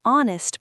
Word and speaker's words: honest: An honest person, h silent, starts with o sound.